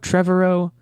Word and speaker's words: Trevorrow: asked before we started how to pronounce his last name Trevorrow trevor oh the guy who were supposed to be directing Star Wars nodding and then dropped out there's apparently a Trevorrow cut or really I